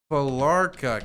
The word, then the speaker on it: Felarca: Yvonne Falarka. Can you send me information on these people? Yvonne Falarka. Her name is spelt Yvonne. Last name Falarka, Felarca. Felarca.